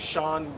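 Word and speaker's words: Shean: My name is Sean Williams. It's spelled S-H-E-A-N.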